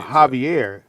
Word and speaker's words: Javier: yeah he kept going javier is spelled with the j but it's pronounced with an h yeah but it's no